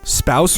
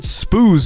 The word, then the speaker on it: spouse: gender-neutral but also rhymes wait spouse rhymes with house i always pronounced it spooze in my head why is your language